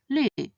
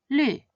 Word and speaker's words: 绿: When this pinyin is pronounced in the fourth tone, it means the color green, 绿, 绿.